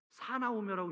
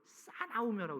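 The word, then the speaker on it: 사나우며: 않아요 모함하며 절제하지 못하며 사나 오이라고 읽으면 안 돼 싸 나오며고 읽어야 돼 싸 나오며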